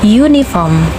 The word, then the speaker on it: uniform: Bendanya Oke bukan tulisannya contoh seperti ini ini kalau kita lihat ini berawalan dengan uh tetapi bacanya you uniform ya Jadi kalau dituliskan ini berawalan dengan y ya cara bacanya berawalan dengan Y yang mana Ini tidak menggunakan n tetapi menggunakan a karena dia berawalan dengan konsonan yaitu y Jadi harus sangat diperhatikan